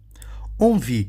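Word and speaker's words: envie: onvi que é inveja que que nós temos em onvi é a letra é essa junção de letras en não e Gente pelo amor de Deus a junção de letras en aqui na sílaba ó en dá o som de de quê de OM tá onvi an Von T aqui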